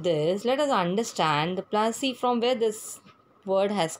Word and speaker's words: Plassey: Before starting with this, let us understand the Plassey, from where this word has come. Plassey is an anglicized pronunciation of Palashi, and the place derived